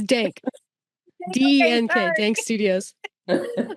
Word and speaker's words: DNK: owner of I'm G say this your Studio's name wrong dinky Studios which is did I say it right no that's great uh it's dank DNK dank Studios all right tell us more